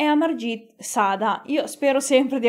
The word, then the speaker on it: Amarjeet: della nostra storia e amargi sada io spero sempre di averlo pronunciato bene ma da quello che ho capito si pronuncia a marge che appunto il serial